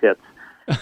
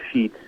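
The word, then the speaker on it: Sheetz: Well, again, my name is Sheets. It's spelled with a Z on the end. Many times people will see it and, mistake it for shits, but it is Sheets.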